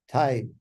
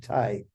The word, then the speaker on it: Myhr: Thai. Okay, I got to pronounce it Thai.